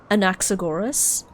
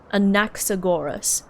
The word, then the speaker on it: Anaxagoras: that, Anagnorisis, is because I want to put stress on the second syllable because I'm so used to Anaxagoras. Anaxagoras, right? So you put stress on the NA there, but here you can't put stress on the NA.